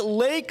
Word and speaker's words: Lache: You've got running back Lake Seastrunk and linebacker Eddie Lackey. Now, Lake is spelled Lache, and his last name's Seastrunk.